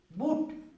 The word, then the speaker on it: boot: अब ऊ के उच्चारण बू, ऊ, बूट।